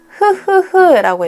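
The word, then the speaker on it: ㅎㅎㅎ: 또 비슷한 표현으로 흐흐흐라고 읽어요. 히읗 세 개, 이제 히읗, 자음 히읗도 흐 소리를 내기 때문에 그런 흐흐흐흐 웃음의 소리를 이제 표현한다고 해서 이제 웃을 때 히읗을 또 쓰기도 해요.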